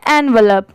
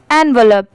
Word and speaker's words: envelope: इसे पढ़ते क्या है एनवलप, ठीक है। स्पीड में इसकी प्रोनाउंसिएशन ये है, जैसे ENN होता है VEV और LOPE, यहाँ पर लप की साउंड आएगी लोप की नहीं, एनवलप, ठीक है।